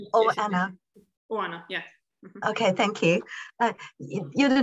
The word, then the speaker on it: Oana: must tell or anna do i pronounce her name correctly claire oh anna okay thank you you